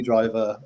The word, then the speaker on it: Driver: surname right for no it's definitely driver as in bus um yeah thank you